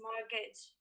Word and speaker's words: mortgage: please give me the pronunciation of the word in american english mortgage that is right the answer is mortgage moving on to participant